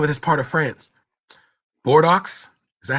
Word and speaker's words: Bordeaux: forgot the name of this part of France bordo is that how you say it I forgot the name of inde for instance in Bordeaux thank you Bordeaux all right for instance in bordo France 45